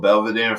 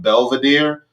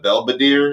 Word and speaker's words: Belvedere: to be like wanting belvedere but they couldn't pronounce the v in it so they call it belbadeer and i'm like i'm